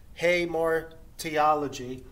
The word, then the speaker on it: Hamartiology: or this important bible doctrine and that is hey mark theology it's pronounced hey more theology and hey mark theology is the doctrine of